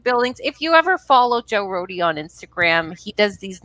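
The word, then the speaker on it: Joe Rohde: I think you pronounce this the Roadies Less Traveled. So Joe Roadie. Right. You don't say Joe Road, right? No, Joe Roadie.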